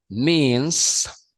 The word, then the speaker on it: means: título de esta lámina means means of transport recordemos que para que salga es el sonido de la s al final tenemos que hacer esto meals of transport medios de